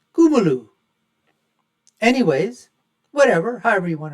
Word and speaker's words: Kamala: there's no way that Kuma haris and that is the way that her name should be pronounced I've T been told by Indian folks it's not kamla or Kamala it's kumu anyways whatever however you